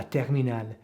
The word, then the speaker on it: terminale: And this word, la terminale, the E at the end is not pronounced like it might be, say, in Italian.